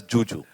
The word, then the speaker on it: Zuzu: So it's written as it's written as Zuzu, but she pronounces it as Juju.